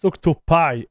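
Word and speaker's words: OctoPi: it's a urinal it's octop pi oh it's octop pi oh no you're right it's octop Pi my bad octopai I made a I made a mistake with the pronunciation chat sorry about this so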